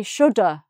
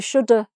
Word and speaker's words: shoulda: Sometimes just people just say shoulda, I shoulda, we shoulda invited, shoulda. So sometimes you get should with an A at the end, but the A is really this, so it's not really correct, but people say shoulda, we shoulda done that. So people say it and it sounds like that.